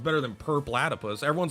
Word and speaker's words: Purplatypus: cool it's better than per platypus everyone's like purple purple laddie pews people never know how to say my name oh look it's perp latap i mean it is purple platypus mixed together so people call me